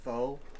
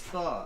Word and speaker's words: pho: Get the fuck out of here, foe. Sorry, it's pho. I know it's pronounced pho, okay?